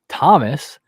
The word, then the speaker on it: Thomas: Tomas uh I'm sorry oh Thomas not Tomas Tomas is the check yeah goalkeeper Thomas milk